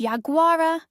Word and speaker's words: yaguara: In the tupi guarani language, it's pronounced yaguara.